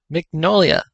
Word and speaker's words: Mignola: Mignola, I think that's how you say it.